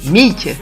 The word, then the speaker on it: Meak: Alors oui, pour ceux qui me connaissent pas encore, alors mon nom de scène c'est Mick, ça s'écrit M-E-A-K, et j'aime me définir comme auteur, beatmaker et believer.